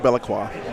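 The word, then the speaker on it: Be'lakor: Essentially, it's pronounced Bellaqua.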